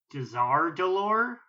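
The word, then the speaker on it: Dazar'alor: me stunned was when he properly pronounced the name of the horde city as desar delore I also like when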